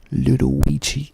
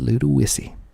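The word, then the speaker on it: Ludowici: w i c i you would think that would be pronounced Ludi but it is not pronounced Ludi it is pronounced Ludy lud isy and if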